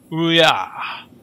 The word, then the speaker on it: Ouya: It's made for mobile devices, I think, both Android and iOS, as well as Ouya. Ouya. That's how you pronounce it.